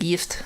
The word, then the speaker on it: gift: with swedish words uh like yift uh this last time yift is a term used for venomous or poisonous and also is a term used for married and it's spelled as gift uh like you would spell gift in the um in the english language so i i really